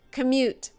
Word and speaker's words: commute: 2 syllables, stress on the second. Commute.